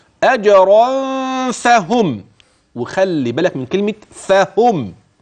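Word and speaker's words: أجرًا فهم: كده اظن وضح عندك نون التنوين الملفوظ ماذا تحدث لهذه النون فيما سبق ادغمت مع الياء ادغمت مع الميم مع الفاء ستخف ازاي يعني اجرا فهم وخلي بالك من كلمه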